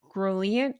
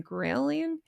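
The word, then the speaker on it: ghrelin: I never know how to say this word, but I believe it's grant. G H re L I N. Grillian drops 15% with high protein meals per 2025 nutrition study.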